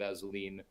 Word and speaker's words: Assouline: Not everyone gets the pronunciation of Assouline correct, but you did.